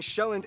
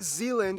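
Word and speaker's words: Sjælland: the largest island being shelland not zealand which is not to be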